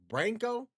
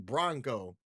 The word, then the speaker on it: Bronco: Richard Bronco said, "Long A when you pronounce my name." Oh, like Branco. Okay. I think that I've been saying Bronco, which, you know what?